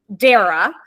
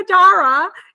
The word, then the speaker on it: Dara: to call myself out on something because you pronounce your name Dara and I think I pronounced it Dara when